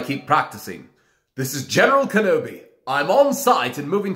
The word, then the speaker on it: Kenobi: He doesn't pronounce the I, it's almost an A when he says Kenobi.